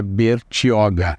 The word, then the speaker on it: Bertioga: Porque a pronúncia não era bem essa, a pronúncia do Tupi-Guarani o português trouxe para essa pronúncia que é Bertioga, que no fundo vem até a oca, né? Bertioga, Beritioca.